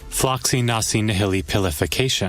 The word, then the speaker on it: floccinaucinihilipilification: Flocken notional pilification. Here's how you say the word. floccinaucinihilipilification Oh, shut up.